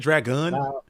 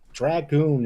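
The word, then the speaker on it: Dragun: I call him Dragoon is it drag gun uh that's how I think it's supposed to be pronounced because Dragoon is a real word and the Dragoon is someone that kills dragons ah very mythological over here I just say Dragoon because it sounds like goon I just call him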